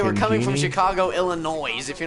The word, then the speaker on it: Illinois: guys from uh Chicago Illinois here you're not even from Chicago and it's not pronounced Illinois the S silent how do I know